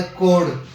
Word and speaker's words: chord: ठीक है, और जिह्वा को इंग्लिश में कहा जाता है कोड। स्पेलिंग क्या होती है? CHORD।